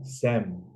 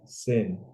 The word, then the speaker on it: sem: like sin carne and here they pronounce sin sem they don't say sin and my friend was